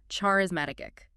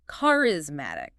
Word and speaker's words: charismatic: People sometimes say charismatic. I think I might do that sometimes. It's common, but it's charismatic. Emphasis on the mat.